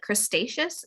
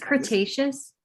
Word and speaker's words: Cretaceous: you say it, like crustaceous. It's dinosaur themed. See, it's Cretaceous. Yeah. Okay. You said crustaceous, which I think is like crustaceans, like lobsters.